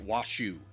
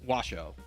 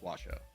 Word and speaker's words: Washoe: Um but he kept pronouncing it Washoe and I was just like, "Come on." It's Washoe.